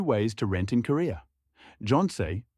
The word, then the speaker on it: Jeonse: Jeonse, pronounced Jeonse, involves a large upfront deposit, 0 monthly rent, and full return at the end.